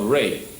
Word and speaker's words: Ra: And Tamareans are the children of Re, mispronounced as Ra by the Greeks.